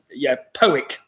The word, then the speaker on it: Powick: Now, do remember the city starts with the letter W, and as Sarah's corrected me, and she's from this area, Powick Bridge.